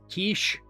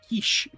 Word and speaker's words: quiche: Indomitable will Old lady kiche. Yep. Yep. Also TTS. It is not quiche. Kish quiche.